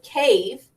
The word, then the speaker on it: cave: vowel consonant final e so the e is silent you can't hear it right we only say cave to pronounce it but we know that